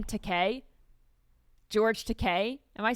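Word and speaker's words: Takei: So, how do you pronounce this guy's last name? Teay. George Teay.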